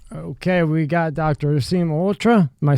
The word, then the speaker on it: Malhotra: Malhotra is exactly the right pronunciation. Wow. That's the Indian pronunciation.